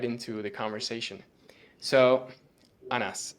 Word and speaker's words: Anas: The second one was right, Anas. Yeah, it's easy Anas, actually.